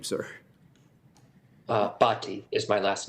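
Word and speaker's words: Bhatti: how do you say your name sir uh bti is my last name okay thank you Dr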